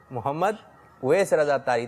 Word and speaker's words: محمد اویس رضا اتاری: اس کا صحیح تلفظ ہے محمد اویس رضا اتاری.